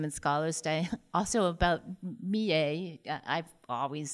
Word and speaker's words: Millais: Yeah, and we did have this debate during the symposium and Scholars Day also about Millais. I've always said Millais, but according to some specialists, his name should be pronounced Millais.